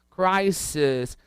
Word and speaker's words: crisis: Repara que a pronúncia é um pouco diferente desse IS, não é um I forte, ó, fica analysis, crisis, thesis, é um I mais seco, quase que um E.